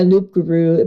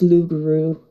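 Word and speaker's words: loup-garou: a bit oh yeah Loop Guru but it's the it's not pronounced it's l grew oh I see I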